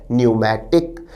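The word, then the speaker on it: pneumatic: न्यूमेटिक विद्यार्थी ध्यान दे शब्द न्यूमेटिक में पहला लेटर पी साइलेंट रहता है तो शब्द का उच्चारण या प्रोनंसिएशन है न्यूमेटिक न्यूमेटिक का अर्थ है वायवीय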